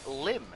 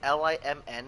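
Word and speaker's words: limn: believe it's pronounced lim you don't pronounce the n yeah it is a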